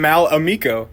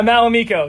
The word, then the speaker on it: Mal Amo: a couple times and Mal Amo yeah Mal Amo that's how you say it I I said in the Tik Tok I said malam Mal that's not how you say that name uh yeah malam is